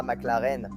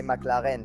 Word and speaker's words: McLaren: Ce n'est pas McLaren, c'est McLaren, d'accord?